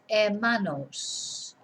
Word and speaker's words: hermanos: brother and la hermana remember we don't pronounce the H so el hermano that hermana and the collective los hermanos now then if we